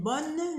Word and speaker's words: bonne: Et il y a aussi d'autres manières comme bonne journée. Bonne journée. Ici, on prononce le N. Pourquoi? Parce qu'il y a deux N. On a deux N ici. On prononce N. Bonne journée.